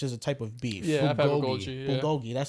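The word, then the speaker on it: bulgogi: for Bui which is a type of beef Bogi that's how okay sorry that's how you pronounce it Bogi it's really good one of them ones bro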